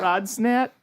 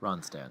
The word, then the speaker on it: Ronstadt: There's a Ronstadt. couple D's in there. Ronstadt. Rond. There's one D. There's unnecessary D's are in the name. Right. Ronstadt.